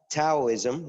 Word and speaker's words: Taoism: basis he talks about Taoism which you don't really pronounce the T that way it's it's pronounced as D but I have not